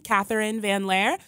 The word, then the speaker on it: Katherine Van Lare: youtube channel you can just search my name catherine van lair that's ka th e RI and e VA